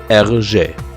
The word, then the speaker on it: Hergé: He found his pen name by taking his own initials, turning them around and pronouncing them in French. R.G. Hergé.